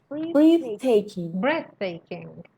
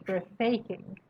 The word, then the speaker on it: breathtaking: breathtaking. استرس روی کلمه اوله، شما میگفتید breathtaking. مثلا همین تلفظ خودش نشون